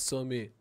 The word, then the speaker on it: Sommet: ما يصوروش حلقة برك تتنطق سومي اه مش صمت هذي بكش يقصد بها